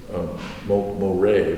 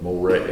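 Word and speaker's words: Mohret: And you guys came into the city of Moray, M-O-H-R-E-T, not pronouncing it correctly, but I call it Moray.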